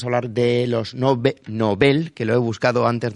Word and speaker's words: Nobel: hablar de los nobles nobel que lo he buscado antes de empezar nuestras entrevistas se pronuncian nobel con al final con el acento vamos hablar sobre los